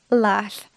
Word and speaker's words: laugh: Today I'm going to be teaching you the standard way to say it, which is laugh.